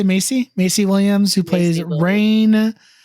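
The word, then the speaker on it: Maisie: name Macy Williams oh that's how you say Macy Macy Williams who plays rain Sinclair Rayne Sinclair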